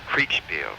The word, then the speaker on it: Kriegspiel: There was also a chess group, where, not chess, but Kriegspiel, which is based on chess. Oh. It's, how do you spell that? Well, it's German for war game. Oh, Kriegspiel. Krieg, K-R-I-E-G-S-P-I-E-L.